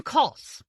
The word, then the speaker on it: Kos: On the rare occasions when Schlacht addressed him, he called him Kos, to rhyme with loss. As soon as the very odd pair departed, Morales named them Kos and the Boss.